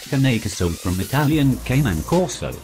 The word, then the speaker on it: Cane Corso: Pronounced Cane Corso from Italian Cane and Corso, also known as